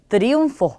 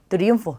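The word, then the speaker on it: triunfo: 자, 그럼 둘 중에 뒤에 오는 얘가 강세가 되겠죠. 그래서 트리움포 이렇게 하게 되면 뭐 승리 이런 뜻입니다. 그래서 트리움포 이렇게 발음하시면 돼요.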